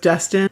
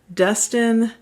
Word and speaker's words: Destin: And there's also like near rhymes, like the first chorus is guest in, rhyming with destin.